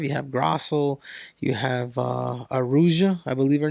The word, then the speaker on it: Araújo: But at 125, you have Grasso, you have Aruja, I believe her name is. Am I saying it right? Viviane Araújo? Yeah, Araújo.